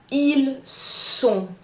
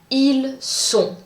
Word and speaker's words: ils sont: Pour être, the pronunciation is ils sont. Ils sont. Pour avoir, the pronunciation is different. You are going to say ils ont. Ils ont.